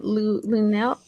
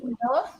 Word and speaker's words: Lunella: But okay, so how do you pronounce her name? Lunel? How do you, Jen? Lunella?